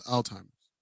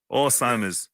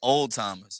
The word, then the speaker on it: Alzheimer's: Alzheimer's. Yeah, Same shit. pronounce the Z, please. Oh, my bad. Alzheimer's. I thought it was Listen. called old timers.